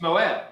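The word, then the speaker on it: מועד: How might that be pronounced? Moed. I'm sorry? Is it Moed? It's Moed.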